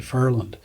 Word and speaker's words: Newfoundland: However, how the Portuguese word got into English and then pronounced, by some as Fairyland. If you're from Fairyland, you don't say Fairyland, you say Furland.